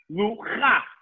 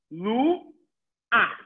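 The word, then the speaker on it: לוח: When a patach is at the end of a word with a chet, I say ach. So for instance, lu ach. I say the vowel before I say the letter. I say ah for patach, and then I say chet. So lu ach.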